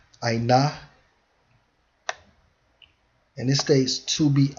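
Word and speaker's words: עָנָה: And it's pronounced as ainah, ainah.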